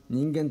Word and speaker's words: 人間: 家のさこだわり人間と書いて人と読む野心と書いてんの心と読むとそれでいい